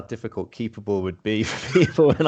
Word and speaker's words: Keepabl: Let me spell that out for listeners, because Keepable, when I searched it, I put it with an A. So Keepable is Keepabl. So there's no E.